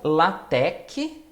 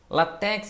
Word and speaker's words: LaTeX: um detalhe é que a pronúncia correta é ou latec ou látex látex é uma pronúncia errada só que eu falo